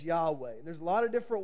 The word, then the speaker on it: Yahweh: to see in Hebrew there's no vowels in Hebrew it would be the letters y-h-w-h and we pronounce it as Yahweh there's a lot of